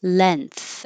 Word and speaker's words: length: The other way is length, and now the N is in the front, and the vowel is going to change to an E because your tongue can stay lower.